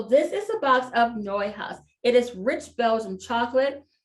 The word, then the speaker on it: Neuhaus: It's pronounced Neuhaus. So this is a box of Neuhaus.